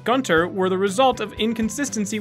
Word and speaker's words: Gunter: Sometimes the U in Gunter would possess an umlaut and other times it wouldn't, which would cause Tom Kenny to pronounce it differently.